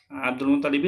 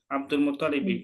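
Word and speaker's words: عبد المطلب: Terus kemudian yang Al Muthalib ini kebanyakan anak sering dengar juga kurang tepat di tasdidnya ya. Kebanyakan orang-orang bacanya Abdul Muthalib gitu ya.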